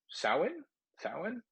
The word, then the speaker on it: Samhain: It's Samhain? It's not spelled how it sounds, but I had to look it up, and I believe that's how it's pronounced.